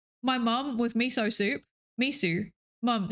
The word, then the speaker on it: miso: Miso. Mum, it's miso. Have some miso soup. I knew somebody that used to pronounce ramen as Raymond, like the name.